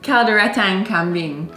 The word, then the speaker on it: Kalderetang Kambing: Kaldereta Kambing. I already know this is gonna be so hard to pronounce. Go on. How do you say it? Kalderetang Kambing.